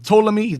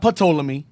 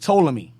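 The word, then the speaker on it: Ptolemy: you had SE Salukis you have uh toomi not pami it's just toomi and you have cassander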